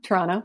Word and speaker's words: Toronto: one you're toronto based the second t in toronto is silent you know well it is to torontonians yes yeah toronto i want to put